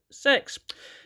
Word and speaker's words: CeX: it and it's yes it is actually pronounced sex now that's not so